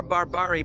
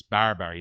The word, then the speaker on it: barbari: Barry, not Barbari. So, the AI needs a little bit of help on the Farsy pronunciation, but it's Barberry, not Barbari.